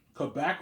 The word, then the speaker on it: Quebec: I live in Quebec, Canada, obviously. Yeah. Quebec or Quebec, right? Some people say Quebec, some people say Quebec. You say Quebec or you say Quebec. There's 2 ways of pronouncing it, obviously.